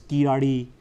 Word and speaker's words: Kiladi: I've had to work on my pronunciation, which I know is imperfect. It's Kiladi.